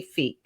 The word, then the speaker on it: Fieck: burnout and building success in flow with Fe. I did I do the last name right? It's but it's good.